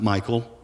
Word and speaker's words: Michal: Verse 16, as the ark of the Lord was entering the city of David, Michal, or maybe you pronounce it Michael, daughter of Saul, watched from a window.